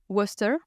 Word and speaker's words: Worcester: que c'est la ville qui s'appelle Worcester, avec l'accent anglais, mais en fait ça s'écrit Worcester, et c'est de là